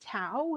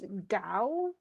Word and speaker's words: Tao: the words sound, but it really isn't Tao, it's Dao.